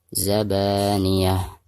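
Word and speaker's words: الزبانية: Zabaniyah. Tak marbutoh apabila diwakofkan maka berubah menjadi ha sukun. Zabaniyah, seperti itu.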